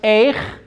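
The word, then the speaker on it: איך: These two words are pronounced the same way. Remember the lesson about when you see a shiva, pretend it's not there. That's how short that sound is. Yeah. It's as if it's not even there. Right. So this is pronounced eich, and this is pronounced eich, even though there's no connotation in there.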